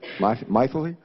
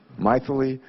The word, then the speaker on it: Mythili: Our second witness has a name I've never heard before, and her first name is Mythili, right? Mythili? It sort of rhymes with mightily, right? Mythili Raman.